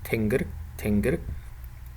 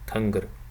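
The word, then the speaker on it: тэнгэр: So for example, the word for sky in Khalq Mongolian sounds like tingr. This word has this vowel, but for example in Inner Mongolia you most probably would hear something like tungr. In Inner Mongolia and in Buryatia it's pronounced as tungr, tingr and tungr.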